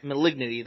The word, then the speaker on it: malignity: Magality? Maligity? Like, Malignity? It's the black one. The black one. Malignity? Malignity, that's the word.